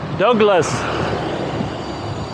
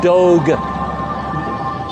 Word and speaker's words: Douglas: that or not, but every time I tell people my name is Doug or Douglas, nobody can say it. They can't pronounce that for some reason. And they always come out with Douglas, like Dog or Douglas. So even if I say Doug, they come back with Dog.